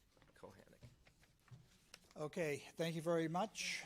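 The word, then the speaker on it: Kochanek: Kochanik. Okay. Please help me spell. Kochanik, but it's spelled Kochanik. Phonetically, Kochanik? Kohanic.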